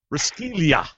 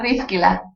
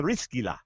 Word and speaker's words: Riskila: Author of Corner, Riskilia. Did I say it right? No. It's Riskila. Oh, Riskila.